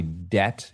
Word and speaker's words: debt: Kristen, have you Have you ever really considered why debt is pronounced debt with a silent B?